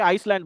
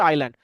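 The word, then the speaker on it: island: তারপরে এটাকে অনেকে আইসল্যান্ড বলে অথবা ইসল্যান্ড, যাই হোক। আইল্যান্ড এটার আইল্যান্ড এটার উচ্চারণ হচ্ছে আইল্যান্ড।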